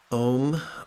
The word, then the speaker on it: Om: Om rhymes with home.